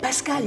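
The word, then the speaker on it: Pascale: puis j'ai entendu pascal j'ai bien entendu le e muet pascal le nos prénoms ne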